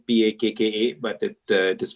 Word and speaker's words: Pakka: It's spelled P-A-K-K-A, but it is pronounced Pakka, but basically means packaging with a soul.